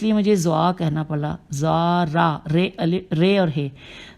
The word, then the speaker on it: زرارہ: مجھے زوا کہنا پڑا، زارا، رے اور ہے، زے پہ پیش الف رے اور ہے، زارا بن الف عین